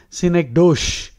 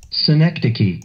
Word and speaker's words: synecdoche: You are tempted to pronounce it synecdoche. Now listen to the pronunciation. Synecdoche, synecdoche, synecdoche, synecdoche, synecdoche, synecdoche.